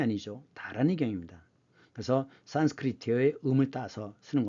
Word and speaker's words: 다라니경: 베풀 포자이지만 산스크리트어는 중국음이 기준이기 때문에 우리 음은 포이지만 중국음으로는 보라고 읽어야 됩니다. 그래서 이건 보시예요. 나무 아미타불 관세음보살 다라니경 이런 것들이 다 타라니경이 아니죠. 다라니경입니다.